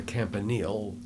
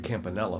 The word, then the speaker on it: Campanile: to now as the Campanile. We didn't call it Campanile. I think we called it a Campanella for some reason. It probably could have been just a mispronunciation of it.